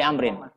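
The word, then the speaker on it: عمرو: Kalau Amrin apa ada wawunya? Ya, kalau nggak ada wawunya diwaca Umar.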